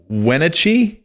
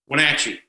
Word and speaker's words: Wenatchee: born in i hope i say it right wenitchie wenatchee wenatchee washington lives in phoenix arizona he's got